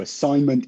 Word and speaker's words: assignment: So assignment is spelled A-S-S-I-G-N-M-E-N-T. It has that silent G in it.